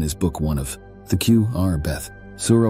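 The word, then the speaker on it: Q'R'Beth: These writings became known as the Q R Beth, or the Words of the Creator, pronounced Q R Beth.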